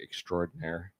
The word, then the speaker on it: extraordinaire: Because it's extra ordinaire. There's an A in it.